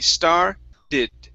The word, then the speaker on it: started: here started now uh here you only want to pronounce one id sound you had said started okay so it's going to be star did end on that d started she